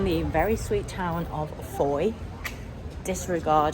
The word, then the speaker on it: Fowey: We're back in the very sweet town of Fowey. Disregard how I pronounced it earlier, it's supposed to rhyme with joy.